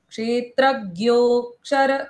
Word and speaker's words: क्षेत्रज्ञोऽक्षर: साक्षी अव्ययः पुरुषः साक्षी क्षेत्रज्ञोऽक्षर एव च। क्षेत्रज्ञो शर एव च क्षेत्रज्ञोऽक्षर एव च। क्षे- क्षेत्रज्ञोक्षर एव च ज्ञोऽक्षर, क्ष और र का उच्चारण पूर्ण करना है।